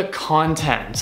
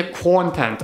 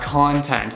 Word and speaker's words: content: Ребята, короче, слово content это не content, а content. То есть ударение будет на второй слог.